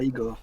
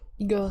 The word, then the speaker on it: Igor: Igor, c'est pas Igor. C'est... Igor. Ça se prononce Igor.